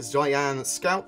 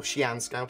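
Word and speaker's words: Xi'an Scout: carck the caterpillar the oryan the reclaimer the Zan Scout or Xian Scout as it's more correctly pronounced and the merchant man will all definitely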